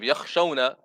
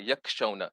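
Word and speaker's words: يخشون: So, for example, instead of yakhshawna kasadaha in the Quran, you say yakshawna, yak with a kaf instead of a kha.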